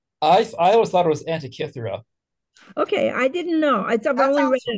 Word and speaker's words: Antikythera: Oh, number 10 is the Antikythera mechanism.